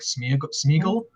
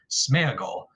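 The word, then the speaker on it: Sméagol: uh is i think gollum's name in the movies at least was like sneagle but i heard i heard that tolkien scholar tom shippy pronounced it that says that the correct pronunciation is smeagle you know kind of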